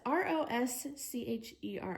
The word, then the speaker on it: Rosecherry: Don't know how to pronounce that. It's Roscheri, so Rosecherry.